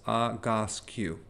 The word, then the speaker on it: Egoscue: So it's, and I wrote down the pronunciation because it's a little hard to pronounce, Agoscue, okay?